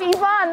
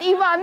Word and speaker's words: Yvonne: And I'm like, "My name is Yvonne, not Yvonne."